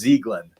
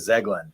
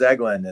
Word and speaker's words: Zeglin: of my American friends, they assume that my name's pronounced Zeglin instead of Zeglin, right? And I'm always like, no, it's Zeglin.